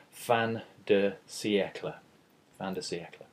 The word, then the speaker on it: fin de siècle: here I've written it out as it sounds fan DEA fantasy eeka okay so that's how we pronounce it but what does fantasy eeka refer